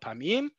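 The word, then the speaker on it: פעמים: We're talking about the word pa'ami, and it just so happens that when we make it plural, it's spelled the same way as pa'amayim. But you already heard me pronounce it as kelim chad pa'amim. Trust me, I was right in that.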